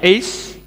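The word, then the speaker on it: אִישׁ: ulang ini is ya alef Yod Shin itu bacanya is itu laki-laki yang berperan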